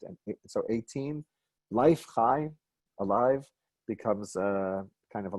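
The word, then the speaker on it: חי: You might have just seen it this way, as chet and yud, but we pronounce it chai.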